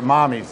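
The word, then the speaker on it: Mamis: product called Mammies, or Mommies, it's pronounced, it's spelled like Mammies, M-A-M-I-S, but it's called Mommies, which is Italian for mother.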